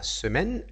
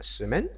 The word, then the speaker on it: semaine: consonne comme ça la semaine la semaine donc le E ici ne se prononce pas d'accord c'est pareil pour